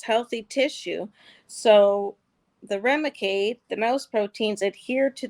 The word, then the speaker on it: Remicade: So the Thuremicade, is that how you pronounce it? Yep. Thuremicade. It was provided to you. Oh, Remicade.